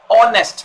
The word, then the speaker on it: honest: the sound of vowel honest man because edge is silent so we say i saw an honest man there we can't say i saw a honest man similarly if i say